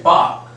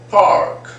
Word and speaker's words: park: And same way, park. This park. We don't have to sound that R. But Americans, they would sound this R. They will say park, park, park. They would speak like this, park, park. So you can there is a hint of R there.